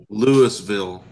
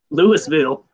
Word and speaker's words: Louisville: Say Louisville. Louisville. Louisville. Not Louisville. Louisville.